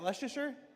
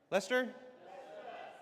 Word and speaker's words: Leicester: How do you say? Is that Leasher? Lester.